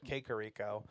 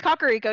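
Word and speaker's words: Kakariko: he does it's not he's like kakaro Village and I would always said kico it's kakaro yeah I knew that one which makes sense because if in Japanese it would be pronounced kakaro so I mean I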